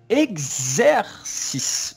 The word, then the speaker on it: exercice: Et alors, 真ん中の R の発音します。 X. R. Oui. C. Très bien, très bien. もう一回お願いします。 Exercise. Exercice.